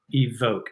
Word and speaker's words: EVOC: next choice I have I think it's pronounced evoke EVOC EB Oh see it's at